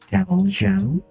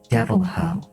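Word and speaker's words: Deviljho: And for Monster Hunter, there's a creature called the Devil Joe. Only when I saw it, because I defaulted to Spanish, I started saying it Devil Ho with devil and then Hoka, H-O, so it's pronounced like Devil Ho.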